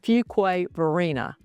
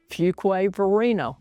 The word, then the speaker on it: Fuquay Varina: Fuquay Varina. I'll say it slow because if you're new here, you're going to mispronounce it. Fuquay Varina, one of the best values left in Wake County.